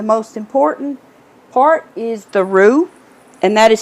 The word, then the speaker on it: roux: seasonings, and the most important part is the roux, and that is spelled R-O-U-X for those of you who are not familiar with it.